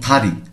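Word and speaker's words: 다리: উচ্চারণ যদি ত হয় শব্দের শুরুতে যখন আসবে তখন এটিকে আমাদের পড়তে হবে ত এর মহাপ্রাণ অর্থাৎ থমন থারি থারি মানে পা থারি মানে পা অনেকে আমরা দাড়ি বলে থাকি তাহলে ভুল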